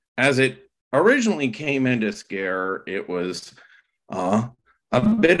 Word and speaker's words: Skerre: yes so I just pronounce it scare as if it was a English word but we're looking at